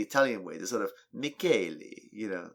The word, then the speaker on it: Michele: But she provided a clip to the Italian pronunciation of what looks like the spelling of Michelle. Michelle, yeah. And it's pronounced Michele.